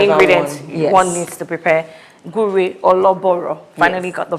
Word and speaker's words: Gure Ologboro: Gur or loor finally got the pronunciation right.